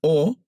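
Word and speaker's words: ὁ: Y en esta frase aparece esta O, es una ómicron, se lee O, con ese espíritu, es el espíritu rudo ese, y es el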